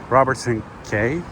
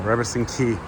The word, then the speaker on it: Robertson Quay: And here I am at Robertson Quay. Well, Robertson Quay. Somebody corrected me on YouTube actually. It's pronounced as Quay, not Quay, as I usually